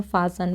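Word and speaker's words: fasten: यही यूज़ करते हैं फासन। फासन मतलब जो सीट बेल्ट है उसको लगाना, तो हम फासन बोलेंगे, फासन योर सीट बेल्ट। यहाँ पे फासन में टी साइलेंट है, okay. फासन your seat belt लगा लो।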